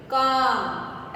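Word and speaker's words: calm: काम, L silent है यहाँ भी।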